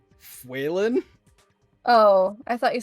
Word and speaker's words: Faolan: There is the other one for small wolf or wolf, which is Fuelan, and that is spelled Faolan, I think. That at least somewhat sounds like how it's spelled. Fuelan?